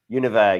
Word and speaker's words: Univers: Univers, exactly. Yeah. Good French pronunciation there as well.